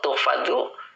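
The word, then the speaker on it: تحفظ: Wa tuhfazu, nah ini wawunya atop, tuhfazu dibaca tuhfazu, dia fi'il mudhari majhul, engkau akan dijaga. Nah, ini bacanya majhul ya, tuhfadu.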